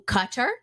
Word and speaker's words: Qatar: But now he is being pimped to Qatar. For those of you who don't know, that's the correct way to pronounce Qatar.